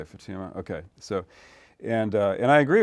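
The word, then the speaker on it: Futuyma: I hope I'm pronouncing his name. Is that how? I think he's an evolutionary biologist. Is that how it's usually pronounced? Yeah. Okay, Fatuma.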